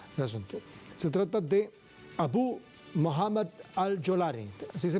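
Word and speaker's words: Abu Mohammad al-Jolani: una idea general del asunto se trata de abu Mohammed al jolar así se pronuncia Isabel AB Mohamed alani el principal propulsor de la inestabilidad del domingo en el gobierno sirio abu mohamad al yolani es el terrorista Quien encabezó los ataques en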